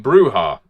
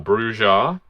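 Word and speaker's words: Brujah: So we move on to the Brewha in alphabetical order, or Brewja. I know, technically the Spanish pronunciation would be Brewha.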